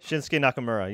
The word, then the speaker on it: Shinsuke Nakamura: Shinsuke Nakamura, yes.